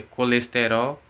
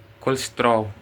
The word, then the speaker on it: colesterol: tudo a palavra certinha nós pronuncia colesterol Portugal eles fala tipo é é colestrol cerol el come as